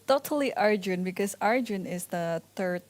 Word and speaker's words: Arjun: arjune by the way I heard someone call him aryun it's Arjun our Yoon is like I think if you pronounce it no it's Arjun okay so we're saying it the right way okay well maybe our